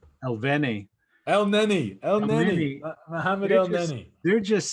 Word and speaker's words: Elneny: And Xhaka and, how do you pronounce his name right? Elneny.